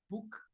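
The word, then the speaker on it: BUK: And then we got Arul Prakash, founder of Book Technology, B-U-K. It's pronounced as book, but it's B-U-K.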